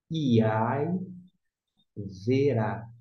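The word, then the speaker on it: וַיִּבְרָא: Ao invés de ser B de bola, você vai ler V, porque o som de V com E, V.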